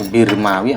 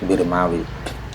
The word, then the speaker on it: Birmawi: kebanyakan k ini dihapus ini bacanya birmawi atau Bawi saya saya juga belum pernah meneliti ya kalau yang Saya dengar ya Maknya dihakati kasrah birmawi tapi ya mendengar dari